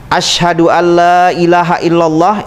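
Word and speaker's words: أشهد أن لا إله إلا الله: itu adalah utusan Allah cara membacanya adalah la itu 6 harakat ilaha itu 6 harakat Allah itu 6 harakat jadi asyhadu alla ilaha illallah wa Asyhadu anna muhammadar rasulullah satu nafas jangan diputus kalau bisa syahadat tersebut ini cara-caranya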